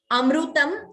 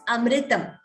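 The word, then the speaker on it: अमृतम्: It is not Amrutam or Amritam. It is not E or U. It is Amritam. So note that swara R, like Rishihi, Rituhu, that we should get accurate pronunciation of that particular letter.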